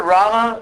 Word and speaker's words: Rama: pronounced rum and then if you make a long a ram it means the source of pleasure so again uh Rama